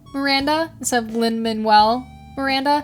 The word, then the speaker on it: Manuel: I promise you guys I know how to say his name I know it's not L manelle every time I was